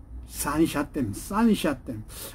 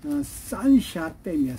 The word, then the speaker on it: 산샤댐: 그 댐은 산샤댐. 아주 발음하기도 어려워요. 삼협댐이라고 우리나라 말로는 그러는데, 중국 말로는 산샤댐이야. 산샤댐.